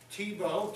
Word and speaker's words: Thibault: Thibault, T-E-B-O, instead of T-H-I-B-E-A-U-L-T, phonetically.